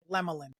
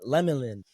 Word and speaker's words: Lemelin: your last name right how you say it lemlin lemlin okay bet bet okay I just want to make sure so yeah everybody Welcome like lemelin I said that right